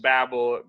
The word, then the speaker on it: Babel: of Babylon and yet that's obvious when you say it right you say babble on and babble very connected those words but also in the